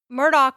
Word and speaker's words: Murdaugh: of questions about that he says murdick and I've been told that Murdoch was the more formal way to pronounce his name but Murdoch was or murdick was how they pronounced it amongst friends so that makes me